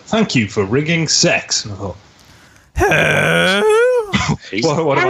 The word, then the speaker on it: CeX: It's not pronounced CEX. Yes. No, it's sex, isn't it? Is it sex?